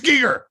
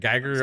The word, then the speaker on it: Giger: I've always said Geiger also. I said Geiger because of a Geiger counter, and I know it's Giger is the correct pronunciation.